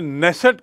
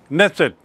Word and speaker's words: Knesset: वहाँ की विधायिका है जिसे नेसेट कहते हैं, KNESSET, नेसेट, सेनेट अमेरिका की विधायिका को कहते हैं, याद रखेंगे, सेनेट, SENNET, सेनेट अमेरिका की विधायिका को, और इसका उल्टा उच्चारण है नेसेट, इजराइल की विधायिका को।